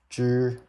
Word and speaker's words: zhi: So now that we know this one is pronounced as zhi, and this is so combine them together.